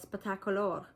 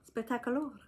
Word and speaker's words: Spettacolore: It's kind of like the word spectacular, but it's spelled Spettacolore. Spettacolore.